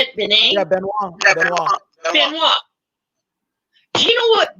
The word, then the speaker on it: Benoit: Yeah, Benoit.